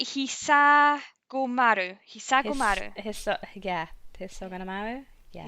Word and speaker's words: Hisagomaru: Which is, I'm going to butcher the name of this, I'm going to try and say it right, Hisagomaru. Hisagomaru. Hisagomaru? Yeah. Hisagomaru, yeah.